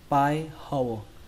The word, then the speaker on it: pie hole: Ở đây cái từ này các bạn đọc là pie. Âm ở đây là âm I. Mặc dù nó ghi là có âm E nữa, nhưng các bạn hãy xem như âm E ở đây nó không tồn tại, mà các